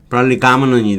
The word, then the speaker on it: prolegomenon: 자, 프롤리가먼은 발음하기도 어렵죠. 이 프로가 좀 발음하기가 좀 어려워요. 그냥 프로 대충 오로 그냥 발음해도 괜찮을 것 같은데 가먼은만 기억하면 프롤리가먼이 되는 거죠.